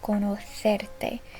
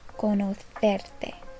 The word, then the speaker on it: conocerte: And just a note, if you want to pronounce it the way people from Spain do, it would be encantada de conocerte. This C here is a th sound, conocerte.